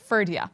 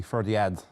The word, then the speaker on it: Ferdiad: I suppose Connacht Gaeilge would be Ferdiad, or I suppose, yes. Yeah, there would be, you would pronounce the D, but like, I suppose